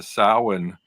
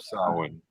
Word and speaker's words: Samhain: And then the other one I got is from I got off Etsy from Tarot by Seven, and this is the Samhain Lenormand, and this one is it's on linen